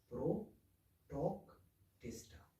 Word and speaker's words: Protoctista: kingdom pro talk टेस्टा तो ये थोड़ा मुश्किल सा नाम है लेकिन अगर आप इसको डिवाइड करेंगे तो आप इसको अच्छी तरीके से प्रोनाउंस कर सकेंगे प्रो टॉक टेटा तो इसके बारे में